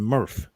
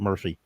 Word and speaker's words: Murph: from hero but but he's not a Smurf which rhymes with murf that's right he's a